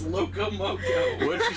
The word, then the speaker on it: loco moco: He made us moco loco. Did I say it right this time? No, restarted. It's loco moco.